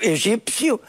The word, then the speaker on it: egípcio: não nos entendemos portanto egípcio o p articulado escreve-se em Egito não é articulado não se escreve Nós já tínhamos antes